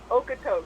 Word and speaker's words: Okotoks: Okotoks.